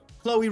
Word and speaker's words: Chloe: Chloe rhymes with snowy.